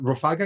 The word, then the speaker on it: Rofagha: here with a very special guest today maximilian rofaga is that how you pronounce it yes well done yeah absolutely so